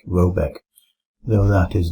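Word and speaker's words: Råbäck: garden question is to be called were that pronounced something like Robeck though that is not its name it is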